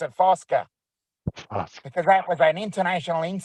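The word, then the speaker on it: Fucka: f-u-c-k-a but yep but the why it was pronounced is foska because it was not an Olympic he was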